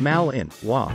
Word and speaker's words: Malinois: their own separate breed the belgian malinois pronounced mal in hua was developed in the belgian city of mainlands